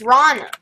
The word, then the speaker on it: Rana: okay what's her name it rhymes with Lana Connor no Mana nope Hannah no oh no no no piranha una no it's Rana it's fun and then